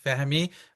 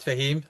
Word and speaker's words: Fehmi: My name is Fahimi, not Fahheim or Fami for those who cannot pronounce the H.